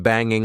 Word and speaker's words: banging: Did you notice that when I'm trying to be extra informal, instead of saying banging with the eing sound at the end, I said bangin', bangin'.